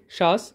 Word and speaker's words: SHWAS: এই যে স্কিম দুটো তাদের পুরো নাম এখানে দেওয়া আছে, যেটা SHWAS বা সোয়াস উচ্চারণ হবে, শাস।